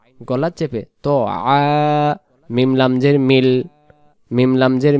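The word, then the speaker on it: طَعَامِ: এখানে ইয়া অক্ষরে কিছু নেই, উচ্চারণ হবে না, এভাবেই থাকবে আলা। ত জবর ত, আইন আলিফ জবর আ, তো আ, তো আ।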